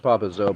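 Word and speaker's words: Papa Isio: uh what's his name papao it's well it's pronounced papa zoo but it's spelled Papa Zio p a p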